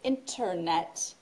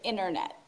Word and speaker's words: internet: In American English, we don't pronounce the T in internet. So we don't say internet. We say internet.